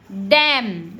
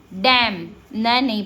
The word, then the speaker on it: damn: डैम, DAMN, डैम, नहीं पढ़ते, डैमन नहीं पढ़ते हम, डैम, क्लियर।